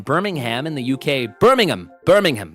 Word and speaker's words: Birmingham: in the UK Birmingham Birmingham that's how it's pronounced Birmingham I don't want to say Birmingham it's Birmingham in Birmingham UK I'm going to meacon